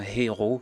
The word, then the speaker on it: héros: on ne sait pas de faire sortir le son de la lettre H en disant héros héros c'est pas comme ça c'est héros vous faites semblant que la lettre H n'existait pas et vous prononcez tout